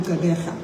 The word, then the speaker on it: Gqeberha: This historic match will take place on Saturday the 12th at the Nelson Mandela Bay Stadium in Gqeberha. Notice that I pronounced that properly.